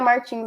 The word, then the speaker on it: Martins: agora o Vitor Martinho ele é um piloto francês mas se pronuncia Martins mesmo tem essa dúvida